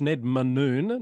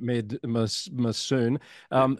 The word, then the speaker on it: Ned Manoon: It's Ned Manoon, not Med Massoon.